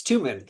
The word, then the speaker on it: Tuman: And I would be like, no, it's Two Man like a two-man bobsled.